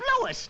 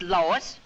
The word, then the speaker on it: Lois: the plant Lois Lois my name is Lois not Lois Gateway's everybody in tight